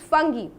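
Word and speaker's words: Fungi: कुछ बच्चे फंजी बोलते हैं, तो the right pronunciation is फंगी।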